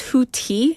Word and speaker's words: Houthi: they claimed that it's HTI because the th is a t- sound it's like hooes yes Boat House pothook